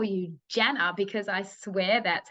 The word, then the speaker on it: Jana: I grew up hearing my name Janna how you said it first but in countries that I've traveled because I've been to 28 countries where they use a soft J when they try to say my name with the hard J it comes out jaina Janna like all kinds of other things so I realized that if I just say it with the soft J they can say